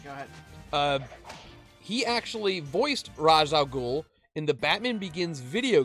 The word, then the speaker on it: Ra's al Ghul: He actually voiced Ra's al Ghul in the Batman Begins video game.